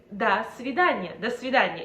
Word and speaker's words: до свидания: And actually, a lot of foreigners pronounce it as до свидания. Well, no, it is до свидания, if you want to sound more native.